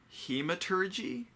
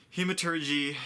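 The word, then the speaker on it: Hemalurgy: There's also what's called hematurgy, I believe, is how it's pronounced.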